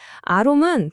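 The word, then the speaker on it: עָרוֹם: 아롬은 벌거벗었다는 뜻이에요. 파락 전 아담과 하와의 순수한 상태죠. 그런데 아롬은 간교하다, 지혜롭다는 뜻이에요. 뱀의 특징이죠. 아롬이랑 아룸, 발음이 거의 똑같아요.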